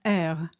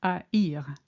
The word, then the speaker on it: haïr: For instance, in the verb haïr, to hate, the tréma makes it clear that the A and the I should be pronounced separately. Not er, but haïr.